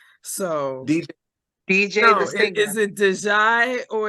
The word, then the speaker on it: Diijai: work to do uh it's pronounced DJ the singer oh DJ okay yeah